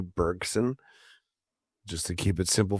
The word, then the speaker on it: Bergson: Bergson and uh I'm gonna use the English pronunciation of his name. He was French, you know. So that would be like a Andre Bergson. Uh but uh I will be anglicizing that to Henry Bergson just to keep it simple for me.